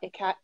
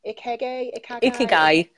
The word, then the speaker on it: ikigai: to talk about Ikagai. Ikigai. That's Yeah. it. That's how you Okay.